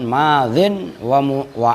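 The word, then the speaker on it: ماضٍ: Madzin, nah itu cara bacanya itu asalnya madziyun gitu loh. Cuman yaknya dibuang kan, madzin wa amrun.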